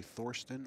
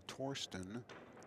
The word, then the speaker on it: Thorsten: but whether you say Thorston or Torsten both are actually correct pronunciations I would think the official German pronunciation is most likely Torsten and the the Americanized version is Thorston but he does not